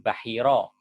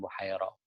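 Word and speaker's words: Bahira: ada mengucapkan ufairoh a kita merujuk kepada naskah-naskah yang kuno rata-rata naskah-naskah kuno menyebut pendeta ini dengan sebutan baahiroh bukan bohorok sementara sejarawan yang belakangan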